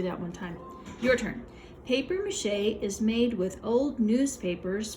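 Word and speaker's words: papier-mâché: this is a different this word comes from a different language and they use that to help pronounce the word this is paper mache you've probably heard that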